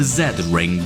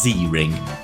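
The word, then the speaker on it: Z-Ring: You slipped the Well, I would say the Z ring, but I'm guessing it wants to me to pronounce it as Z ring.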